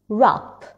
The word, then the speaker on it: wrap: Words that start with WR, W is silent. Right, ring, wrap.